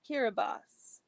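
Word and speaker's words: Kiribati: Papa new guini and kirati Gil Gilbert Islands pronounced kirbos they were transported by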